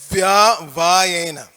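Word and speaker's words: vyavāyena: first word on the second line, it's via vayena. Everybody say via vayena. Via vayena. So please try to get it. The tendency is to compact that and it doesn't come out right. So pronounce it properly.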